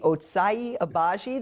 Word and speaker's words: Ochai Agbaji: I will take Ochai Agbaji. That's how we learned is, I guess, the normal way to pronounce his name.